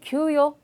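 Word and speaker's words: 給与: 유사한 표현으로 큐요, 저 급여라고 하셔도 큐요. 저 발음 주의하시고요. 요가 한 글자고요.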